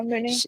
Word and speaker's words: Mooney: I think it's pronounced Mooney, Mooney. Yeah, Mooney.